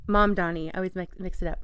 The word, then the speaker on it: Mamdani: We were talking about is it Mondami? Is that how you say his name? Mamdani.